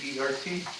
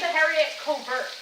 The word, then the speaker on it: haricot vert: It's Hericovert. How come they don't put I that on the believe can? technically it's supposed to be haricot vert.